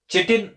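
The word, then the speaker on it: chitin: Then सी, यहां पे change में सी, सी स्टैंड्स फॉर काइटिन, या कुछ लोग इसको चिटिन प्रोनाउंस करते हैं, काइटिन और चिटिन, ये भी एक हेटेरोपॉलीसैकेराइड है।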